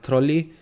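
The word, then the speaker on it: Trolli: sour candy I mean technically the German pronunciation is like troli but yeah basically if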